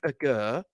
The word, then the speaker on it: Aguerd: Because they don't pronounce the D, do they? I've noticed that. Naya Agur, or Nathan, that's what David Moyes calls him, and Kurt Zuma.